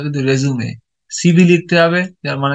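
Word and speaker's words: résumé: প্রথমে আপনাকে এক্সেলেন্ট একটা কি লিখতে হবে, কি লিখতে হবে দেখুন, খেয়াল করুন কি লিখতে হবে, সিভি অথবা রেজুমে, উচ্চারণটা কিন্তু রেজুমে।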